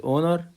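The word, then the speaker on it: honor: اونر شرف او فخر وكلمه اونر الاتش سايلنت لا تنطق تنطق تنطق فاير الارم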